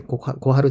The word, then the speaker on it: 小春: 小春ちゃんこれで小春って心が温かいで小春ちゃんと読みますけどねこの子